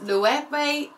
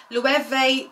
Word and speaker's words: Loewe: month is indeed this louie you know what i actually had to google how to say this brand but i think it said le vee bag and if i'm